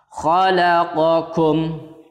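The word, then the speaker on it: خلقكم: Jadi cara membacanya q di sini, kaf juga agak atas sedikit. Kalian bisa merasakannya sendiri perbedaan antara huruf qaf dan kaf. Khalaqakum.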